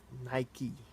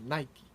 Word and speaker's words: Nike: Here they don't say It's pronounced 'Nikeey'.